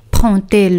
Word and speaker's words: prend-elle: Prend-elle le train? Aquí con la inversión del sujeto ponemos un guión con la tercera persona singular. Prend-elle le train? Y como veis, D se pronuncia como T.